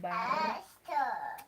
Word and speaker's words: bar: In Luo, that R is not silent, but in English the R is silent. That's why it is called bar. But in Luo it is not silent. It's called bar. Make sure that R. Make sure that R is there. Okay. Yeah, make sure that R is there. So we pronounce it as bar.